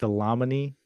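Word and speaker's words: Dlamini: __ ] terrible name it has a DL a m i ni I'm guessing that's pronounced Damon automatic Damon If Only They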